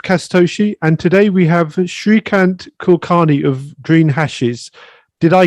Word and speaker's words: Shreekant Kulkarni: another episode of kasatoshi and today we have srikant kulkarni of green hashes did i get that correct